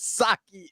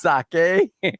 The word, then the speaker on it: sake: Pronouncing sake as saki is diabolical. It's sake shaking my head.